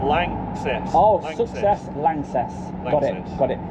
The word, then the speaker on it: LANXESS: It's a German company. Yeah. L A N X E S S Less. Lang Lang. Lances. Like success, but Lances.